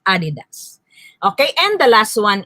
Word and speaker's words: adidas: it is not appropriate because the accent of the word adidas is in the first syllable that is why it should be read as adidas okay and the last